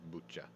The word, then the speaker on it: Bucha: bucha and i did look up how to pronounce this town it's bucha um it's i think slightly northwest of kiev